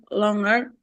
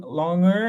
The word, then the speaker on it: longer: yes I cannot wait longer than an hour excellent and Miss missa don't forget with long long longer is not the correct pronunciation we we sound the G so you say longer longer yes good job